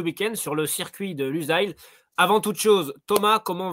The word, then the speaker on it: Lusail: Losail, il me semble que c'est la manière dont on le prononce en français, et Lusail, Oui. c'est international. Donc voilà, on adopte Lusail.